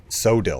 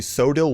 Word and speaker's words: Coeddil: hear about the most sodel or I think it's actually pronounced codel I'm not really 100% sure but I'm going to